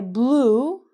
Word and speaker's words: blew: The past tense is the exact same pronunciation as the color blue. So you can say, I blew a blue balloon.